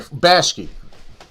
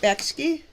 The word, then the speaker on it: Bakshi: Bashki, Ralph Bashki, or Bakshi, how do you say it? Bakshi, Ralph Bakshi.